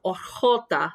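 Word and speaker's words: jota: let me show you what the whole hota sounds like it sounds very much like the soft g sound we had and the gift of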